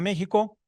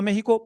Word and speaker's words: México: que había venido a México por dos motivos, porque México se escribía con X y se pronunciaba con J.